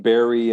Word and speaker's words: bury: about that one oh because it is it's written with an eu okay just like february it's tricky um yeah the vowel sound is the same berry and berry berry as a verb